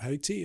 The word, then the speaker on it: Haiti: And I was asked to go to Haiti and work with people in Haiti, as it's pronounced.